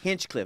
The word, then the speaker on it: Hinchcliffe: Hinchcliffe, not Heathcliff like the cat.